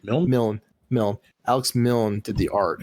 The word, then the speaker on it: Milne: How you pronounce his name? Milne.